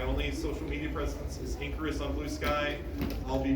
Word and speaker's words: Inkarus: Um Icarus, but ink because what's ink?